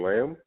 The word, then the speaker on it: Lam: i am being joined by my guest jordan lamb hi everyone yeah that's how you pronounce it all right all right how are